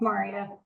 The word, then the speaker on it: Maria: I'm mispronouncing your name is it Mara did you have a question as well it's Maria um I really love